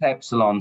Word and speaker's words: Epsilon: For how do I pronounce this? Epsilon? It's Epsilon.